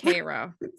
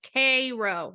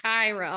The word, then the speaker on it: Cairo: Spelled like Cairo. Yes, but it's Cairo. Yes, weird. I know. I mentally, as I'm like took my notes on this, I was like, it is Cairo, not Cairo. And they really pronounce it like that.